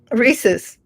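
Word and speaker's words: rhesus: the Reese monkey yes the Reese's monkey Reese's just like just like the candy I think I'm pronouncing it right but I'm not no you are one time I sent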